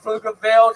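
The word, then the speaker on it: Pflugerville: My speed so it when I say flugerville the P is silent. Thank you.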